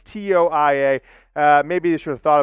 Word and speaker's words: Toia: And now Jay Toia, I've heard it pronounced 3 different ways. It's Toia.